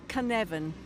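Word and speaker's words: Cynefin: now you play as can evan am i announcing that properly you're pronouncing it perfectly excellent that's what i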